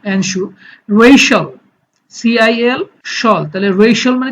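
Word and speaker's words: Russia: Racial, CIL শল, তাহলে racial মানে হচ্ছে জাতিগত, যে রেশাল আমরা বলি যে জাতিগত দাঙ্গা হাঙ্গামা। রাশা, এটা হচ্ছে রাশিয়া হবে না, উচ্চারণটা হবে রাশা।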